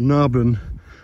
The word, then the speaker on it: Naburn: Now I was pronouncing it Naburn or Naburn, but it's actually Naburn.